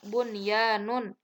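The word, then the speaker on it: بنيان: Kemudian yang kedua bunyanun.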